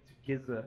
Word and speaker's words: Gizza: Rizza said something to Giza I it's giz but it's spelled Giza so Giza that Miranda